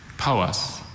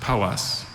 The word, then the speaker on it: Powys: Powys. Powys. Are there any alternate pronunciations? There's just Powys.